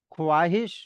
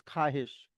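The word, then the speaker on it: خواہش: ख्वाहिश बहुत लोग बोलते हैं लेकिन इट्स ख्वाहिश। तो वहां पे भी वाओ की साउंड नहीं आएगी।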